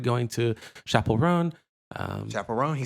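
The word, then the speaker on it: Chappell Roan: Rodrigo we've started going to Chapel Ron um Chapel Ron he said it right you know other let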